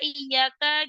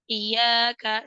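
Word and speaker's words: إِيَّاكَ: laalla laakum laaha lalu pada kata iyaka jika tidak sempurna tasdidnya maka akan dapat berubah makna dalam kata tersebut iyaka iyaka salah harusnya ada dua Iya iyaka iyaka tanbih pada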